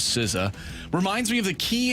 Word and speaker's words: SZA: I'm sorry SCA and instead of the correct pronunciation which is siza reminds me of the